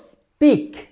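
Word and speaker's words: speak: problem পচার এবার আসি যখন এস লেডারের পর এই পি লেডারটি আপনি পাবেন তখন এই পি লেডারটির উচ্চারণ হবে পি সাধারণভাবে আমরাযে যেভাবে বলি পি যেমন আমরা বলবো স্পিক এটাকে যদি আপনি বলেন স্পিক তাহলে কিন্তু হবে না স্পিক স্পিচ স্পেস অলরাইট স এভাবে চর্চা করতে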